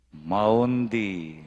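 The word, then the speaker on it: Maundy: Monday, Thursday pungeni, Monday, Maundi, nung makanang yung buring i-pronounce, M-A-U-N-D-Y.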